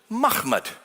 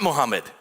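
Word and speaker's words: محمد: So how would you pronounce this word? Without the vowels, how would you pronounce it? Mahmud. That's how you would pronounce it.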